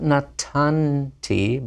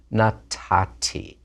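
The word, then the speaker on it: נָתַתִּי: But in the first two persons, the nun assimilates. Not natanti, but natati.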